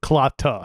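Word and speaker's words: Si'Klaata: yeah yeah yeah cicada cyclotta um cluster spell it s-i apostrophe of course k-l-a-a-t-a c-clotta like like clotu but clotta right it's an area in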